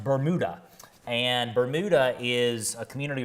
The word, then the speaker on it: Bermuda: I realize that for those of you watching that may not be from around here, a lot of people see that and think, oh, it's Bermuda. But no, it's pronounced Bermuda.